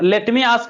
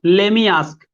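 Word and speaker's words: lemme ask: देखो ये जो लेट मी आस्क है ना, ये इसको लेट मी आस्क नहीं बोलते हैं, उसको देखते हैं। इसको बोलते हैं लेमी आस्क।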